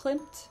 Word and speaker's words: Klimt: Is it Klimt? Klimt, Gustav Klimt.